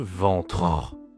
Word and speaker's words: ventre: Ici, on dit simplement, c'est masculin, on dit le ventre. Attention à la prononciation, c'est nasal. En e n le ventre dit pas le ventrein, dit le ventre.